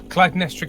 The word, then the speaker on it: Clytemnestra: How do you pronounce Annie's character's name? Clytemnestra Cairn.